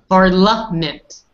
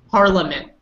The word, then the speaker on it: parliament: I guess you could get away with saying that because I hear people in Quebec saying that too in Canada. I would say parliament. Parliament. Lament. Mm-hmm. I'm not noticing a big difference, just a tiny little bit, but nobody's going to say you're wrong.